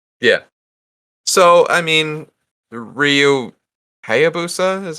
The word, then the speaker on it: Ryu Hayabusa: just slightly different right yeah so i mean ryu hayabusa is how you pronounce it uh ryu hayabasa i think ayobasa